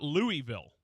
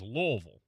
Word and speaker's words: Louisville: Louisville louville remember Rogers there's no e sound in Louisville and they will tell you by the way it is not Louisville it is lville and the more you can make it kind of sound like one syllable the better